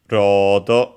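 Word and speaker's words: ロード: in Japanese the word same word as uh load in English but with the Japanese pronunciation. Notice uh the um longer vowel rod and that's the uh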